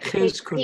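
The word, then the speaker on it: Chizkuni: It's a ch, Ch. Hebrew. Chiz Cooney.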